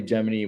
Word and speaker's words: Gemini: Yeah, it's like pretty Geminy like which apparently Geminy was the way they pronounced it, not Gemini, which makes you wonder